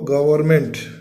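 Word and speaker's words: government: द गवर्नमेंट, है ना, गवर्नमेंट, GOV, ERR, गवर्नमेंट, MENT, इसमें N को जो है साइलेंस कर लेते हैं, गवर्नमेंट, है ना। वैसे गवर्नमेंट है, लेकिन अपन रीडिंग में जो है इसको साइलेंट कर लेते हैं।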